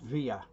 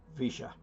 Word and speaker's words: Villa: Incidentally, Villa in Spanish is normally pronounced Villa, but not in Argentina. It's pronounced Villa.